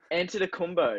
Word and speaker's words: Antetokounmpo: Antetokounmpo. Yeah, so that's great pronunciation there.